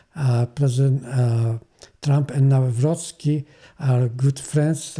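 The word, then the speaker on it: Nawrocki: Poland also, which uh his name is Carol Navroski. uh President Trump uh don't pronounce his uh name uh properly because he uh call him uh Navroi which actually proper name is Navroski.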